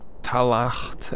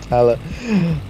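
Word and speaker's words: Tallaght: And Talacht and Ballymun. By the way, that was such a fucking brilliant Dutch pronunciation of Tala.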